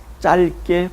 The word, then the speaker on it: 짧게: 발음해야 할까 고민이 되죠 이때는 비율을 버리는 것입니다 리얼 만 발음하면 되죠 짧게 그러나 이 짧다 다음에